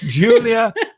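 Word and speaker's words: Giulia: two seconds no julia julia but it's spelled with the g that's right g g h or something g no it's g i u u l i a yeah julia so see that's where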